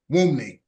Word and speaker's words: Wunmi: Wunmi. The N is silent. There you go. Wunmi.